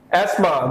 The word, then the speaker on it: asthma: last word today is asthma the letters t and h will keep silent here asthma so the ailment asthma